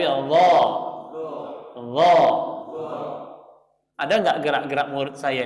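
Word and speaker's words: الله: Jadi mulut kita ini nggak ada perubahan sama sekali, nggak Allah atau Allah, tapi Allah.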